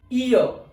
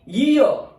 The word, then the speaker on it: year: So its pronunciation will be year. Most of the people mispronounce it. They call it ear. It's a wrong pronunciation. Ear is an organ. So its correct pronunciation is year.